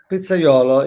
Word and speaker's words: pizzaiolo: So So when did you officially become a pizzaiolo? Am I uh, pronouncing it right? pizzaiolo, yes, yeah, it is pretty pronounced very nicely.